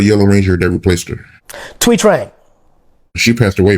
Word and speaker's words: Thuy Trang: How do you pronounce the name of the Yellow Ranger that replaced her? Thuy Trang.